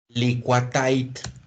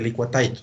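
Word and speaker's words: Liquatite: metálico flexible contra agua se le dice licua tait se escribe licua tite así se le dice es el nombre el nombre de obra o el nombre de tienda el nombre comercial con el que se refiere la mayoría de la gente este tuvo el licua tite bueno le dicen la gente licua time pero se escribe lingua tití no estamos bueno entonces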